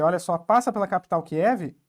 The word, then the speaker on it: Kyiv: A gente pronuncia Kiev, mas eu acho que é Kyiv mesmo que se pronuncia, e aqui está a usina nuclear de Chernobyl, vou dar um zoom aqui.